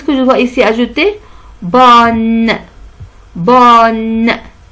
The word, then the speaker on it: bonne: Bonne. Bonne. N-E se prononce bonne.